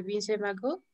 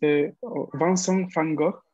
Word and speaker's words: Vincent van Gogh: Fango, no, porque la V en ¿cuál es el idioma? Perdón, holandés, no me acuerdo. Sí. Se pronuncia como una F del español, entonces sería no como Vincent van Gogh, algo así, o Vincent van Gogh.